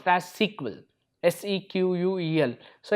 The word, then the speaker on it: SQL: Okay, normally pronounced as SQL, SEQUEL.